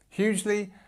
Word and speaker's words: hugely: Hugely, and because again, we've got a shorter word, we've got the stress at the beginning of the word, and we've got this